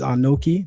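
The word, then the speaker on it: אני: So, the first word that you miss is ani. That's how we say I.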